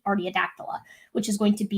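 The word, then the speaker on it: Artiodactyla: the clade of that i always mess up how to pronounce this uh i always say or the adaptola but it's actually just seat artiadactyla which is going to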